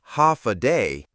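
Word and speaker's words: Håfa adai: Step foot on Guam and you'll hear one word again and again, ha adai. Pronounced ha a day.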